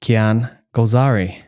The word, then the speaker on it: Kian Golzari: So without any further ado, join me in welcoming Kian Golzari.